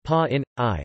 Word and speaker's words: Pāṇini: Pāṇini, pronounced pa in I, Florida, 4th century BCE or 6th to 5th